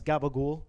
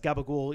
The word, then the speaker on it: capicola: it's a whole it's a whole like old italian pronunciation there's a whole reason there's a whole reason why um like so i i was actually reading something about why it's pronounced gabagool even though it's not